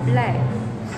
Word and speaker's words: BLVK: We spell it S-B-L-V-K. Tapi sebutan dia thank you Henry. Sebutan dia adalah black.